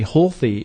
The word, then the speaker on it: Holthe: pronouncing my last name most Canadians don't even pronounce it properly healthy is the last name anyways that reminds me